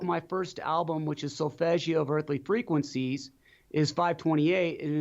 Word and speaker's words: solfeggio: How do you pronounce it? Solfeggio.